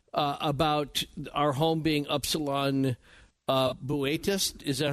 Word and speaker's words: Boötes: our home being Upsilon Boötes. Is that how you pronounced it? It's spelled Bootes, but it's Boötes?